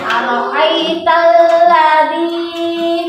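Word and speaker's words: أرأيت الذي: Ya, di sini Ara'aital ladzi, panjang 2 harokat ya.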